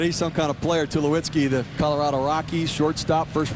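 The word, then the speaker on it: Tulowitzki: that bad troy to lukewitzki and i think i put an extra syllable in his name schuliwitzki sorry troy tell you what he's some kind of player to lewitsky the colorado rocky shortstop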